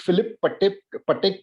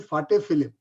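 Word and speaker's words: Patek Philippe: मैं शायद इसकी प्रोनाउंसिएशन सही नहीं कर रहा हूं, बट एक फिलिप पटेक करके वॉच कंपनी है।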